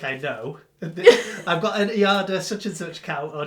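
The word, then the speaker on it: Aida: Ada!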